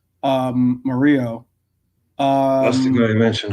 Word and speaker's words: Murillo: It's spelled Murillo, but I believe, Mario, yeah. but it's supposed to be when you have a double L, it's it's pronounced with like a Y. So Mario.